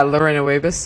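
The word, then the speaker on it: Lorena Wiebes: it's uh well you tell us how to pronounce it lorena wiebers yeah lorena weavers yeah you've got it got it bang on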